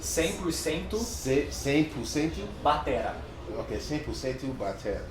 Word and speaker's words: Batera: Okay, 100% Batera. Batera.